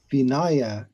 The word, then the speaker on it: vinaya: So the word for the discipline is usually pronounced Vinaya, not Vinaya. Vinaya, because it's a only short A's.